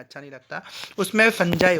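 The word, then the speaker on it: fungi: पहला तो बैक्टीरिया होता है, फंजाई होता है. देखिए स्टूडेंट, फंगी मत बोलना, उसे फंजाई बोलते हैं. प्रोनाउंसिएशन आपको क्लियर करना है, फंगी मत बोलना, फंजाई बोलते हैं हम उसको, प्रोटोजोआ एंड एल्गी।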